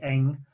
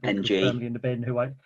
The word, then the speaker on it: Ng: there's uh there's perry eng which my pronunciation uh ng yeah you just literally say the letters ng who else should we